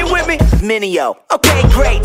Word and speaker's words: Mineo: Try say my name, it's Mineo. Say it with me, Mineo.